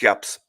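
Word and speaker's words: Jabs: do you pronounce this no it's yaps yaps okay it's yaps exactly I've always for some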